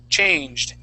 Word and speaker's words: changed: going to be changed changed okay with that ed ending sounding like a d changed change change let's